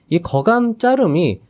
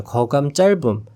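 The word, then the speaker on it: 거짧음: 자, 그런데 여기서 잠깐 안내드리고 넘어갈 사한이이 거 자름이 원래 제대로 발음하면 거 짤금이 됩니다. 거 짧음.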